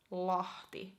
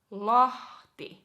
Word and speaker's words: Lahti: So we have Helsinki, Espoo, Tampere, Vantaa, Turku, Oulu, and next Lahti. Lahti, Lahti.